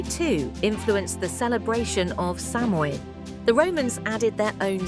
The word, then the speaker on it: Samhain: The festival of Samhain, pronounced Samhain, was born from this belief.